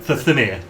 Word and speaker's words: Thamir: Famir. Thamir. Thamir. There is no L in it.